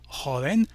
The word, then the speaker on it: joven: Il rajoute donc un E, et cette fois-ci le mot qui tout à l'heure n'avait que 2 syllabes, se terminant par un N, et par conséquent suivait la règle de l'accent tonique sur l'avant-dernière syllabe, joven, maintenant possède 3 syllabes.